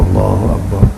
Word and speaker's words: Allahu Akbar: Bacanya Allah Akbar, Allahu Akbar, Allahu Akbar, Allahu Akbar.